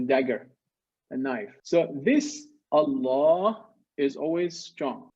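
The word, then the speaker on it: الله: to make we say allah so we pronounce it with a full mouth look at my mouth allah oh however second situation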